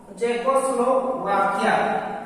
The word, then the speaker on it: Czechoslovakia: उसी तरह से CZECHOSLOVAKIA, इसका सही प्रोनाउंसिएशन है चेकोस्लोवाकिया, यहाँ C साइलेंट है।